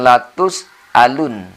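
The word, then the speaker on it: لتسألن: Jangan terbalik. Di sini a, bukan ain. Sering juga di sini sahabat-sahabat kita karena terlanjur sudah sering tadi dengan gunnah, maka di sini sering sahabat-sahabat kita membacanya alun. Tsumma latus'alun. Nah, di sini justru harus a. Karena di hamzah ya.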